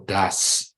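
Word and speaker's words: Da'at: Dengan pengetahuan, air samudera raya berbencaran dan awan menitikkan embun, dari kata dat ya, atau das ya, dialek Hasidiknya das, tapi masih tulisannya daat gitu ya, bacanya das.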